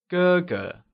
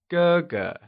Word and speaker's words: 哥哥: Elder brother becomes 哥哥. It is pronounced using the high level tone. Can you try and say 哥哥?